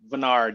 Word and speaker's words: Veniard: used to make reservations, he would spell it Venard because you take the I out.